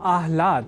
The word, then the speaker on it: आह्लाद: समझकर या न लिखकर हम आह्लाद अर्थात पहले ह और बाद में ल इस अक्षर विन्यास से युक्त शब्द आह्लाद का ही लेखन और तदनुसार शुद्ध उच्चारण करेंगे।